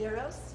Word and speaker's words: gyros: The correct pronunciation is gyros.